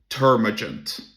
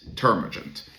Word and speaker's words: termagant: There's a term called termaggent. I think that's how you pronounce it. Turagent.